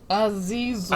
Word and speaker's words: Azazel: Azazel. That's it. I'm an arsehole. Azazel. Azazel! Thank you. Yes. Okay. You're not the best at pronouncing names.